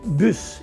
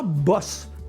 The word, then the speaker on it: bus: vont prendre l'autobus scolaire on doit prononcer bus et non pas boss comme en anglais BO SS e c'est une bosse mais b.us c'est un bus ou dites un autobus